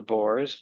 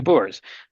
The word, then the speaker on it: Boers: you know, according to the custom of the boores, the the the bear, how do you say that? Bears. Um, the bo. Yeah, Bo. The Boers.